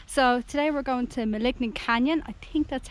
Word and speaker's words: Maligne: It's Maligne Canyon, not Maligne Canyon, whatever way I pronounced it.